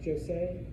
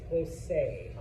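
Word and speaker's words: José: Um Josie Jose. Yes. Jose. Okay. So, a Spanish J sounds like an English H.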